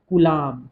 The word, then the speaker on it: Coulomb: English में इसको ऐसे लिखते हैं COULOMB, तो इसलिए इसको बी साइलेंट होता है, इसलिए कुलॉम, कुलम ऐसे भी कई